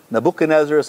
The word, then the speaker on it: Nebuchadnezzar: Nebuchadnezzar, I was told, is the right way to say it.